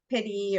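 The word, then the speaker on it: PITI: your mortgage payment and that's what we call pity or piggy dog people pronounce it differently b-i-t-i um so that is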